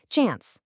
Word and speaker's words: chance: Check out the difference between the UK pronunciation, kind of like chance, and the US way, which is more like chance.